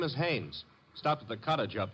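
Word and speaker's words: Haines: His name is Hannes.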